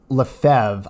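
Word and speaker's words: Lefebvre: traditionalist movement was founded by French Archbishop Marcel LeFevre I think is how you pronounce his name French Archbishop Marcel LeFevre was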